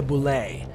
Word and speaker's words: Bulette: earthquakes landslides and sink holes this is the Boule and yes that's how it's pronounced I was also shocked here is the